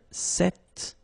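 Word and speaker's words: cet: it's quite interesting because if you listen carefully the masculine form here set and The Feminine form here set you write them differently but then you pronounce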